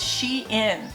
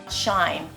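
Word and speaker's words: SHEIN: little poet corrected me it's called she in not shine s-h-e-i-n i would pronounce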